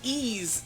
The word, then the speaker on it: Ys: So it is E's 7. It is pronounced like E.